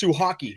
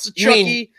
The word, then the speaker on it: Suhaki: It's Suhaki. It's not so chucky. It's not so chalky. It's Suhaki.